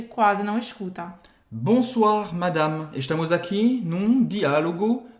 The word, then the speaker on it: Madame: e madama significa senhora Madame Madame tem um Primeiro de tudo a pronúncia a gente não Fala madame não existe essa nasalização é Madame Madame Madame Madame e